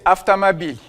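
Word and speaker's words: автомобиль: Aftomobile. Oui, on a un accent qui est final. Donc pareil, on va voir les haut qui ne vont pas se prononcer haut. Ça va se prononcer aftamabil.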